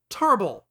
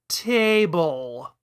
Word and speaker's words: Tarble: approximate a rhotic r, like how Zabon is Zarbon, Vegeta's brother is Tarbal. And that spelling, in addition to calling attention to the modified vowel sound, rather conveniently sidesteps the inclination to pronounce his name as table.